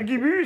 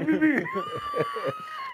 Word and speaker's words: Bubu: C'est pas Guibu, c'est Bubu.